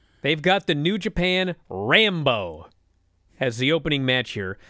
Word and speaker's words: Rambo: about the rambo and you argued it was the rand bow and i kept explaining no on our front page it's spelled rambo like the guy rambo well here on wikipedia